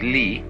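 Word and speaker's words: 理: So in contrast with ji, which is one point of view toward the world, is ri. Ri is a Chinese character, pronounced by the Chinese li, which almost all of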